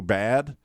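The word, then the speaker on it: בד: if you ever knew this but it's actually pronounced in Hebrew bad ba D because it has about Dollard so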